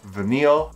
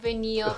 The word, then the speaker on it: Vanille: I want to name my girl Vanille and my boy Oren. Not vanilla, please, because it's hard to pronounce.